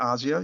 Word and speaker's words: Asia: It's got his lovely daughter, Asia, in it. Or if you wish to pronounce her name Asia, you wouldn't be wrong either. Both, pronunciations are good.